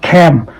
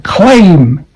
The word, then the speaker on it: claim: Like this is not cam. You cannot cam your luggage over there. You can claim your luggage over there. Claim, okay? Claim is the right pronunciation.